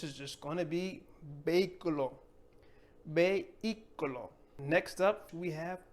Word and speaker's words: vehículo: Next up, we have vehículo. Vehículo. Vehículo. Not going to pronounce the H. No se pronuncia for vehicle.